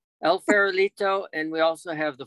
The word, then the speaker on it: El Farolito: operate el farolito bed and breakfast am i pronouncing this correctly that's correct el farolito and we also have the four kachinas ah